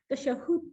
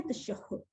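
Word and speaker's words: تشهد: इसका प्रोनाउंसिएशन क्या है? तशहुद। ठीक है, हा के ऊपर तशदीद है, यहाँ पे हा पे ये तशदीद है, यहाँ पे इसको ऐसे करके आप तशदीद के साथ पढ़ेंगे, तशहद नहीं पढ़ेंगे।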